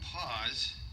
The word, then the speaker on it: Paws: a rough start well i named him paws because it sounds like it's p-a-w-s but it sounds like the word paws p-a-u-s-e so every time i